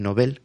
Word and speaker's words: Nobel: hablar de los nobles nobel que lo he buscado antes de empezar nuestras entrevistas se pronuncian nobel con al final con el acento vamos hablar sobre los